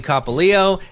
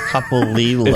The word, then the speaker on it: Copolillo: Copolillo, and as required You did not say his name correctly. Copolillo? Thank you. Sorry. Copolillo. Copolillo. It's the Italian, not the Spanish pronunciation. Capolillo.